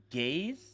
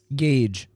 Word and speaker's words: Gage: Gaze. Gage.